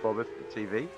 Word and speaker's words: Bobbeth: I'm obviously the broadcaster of BobbethTV, and that's how it's pronounced, Bobbeth, B-O-B-B-E-T-H, Bobbeth.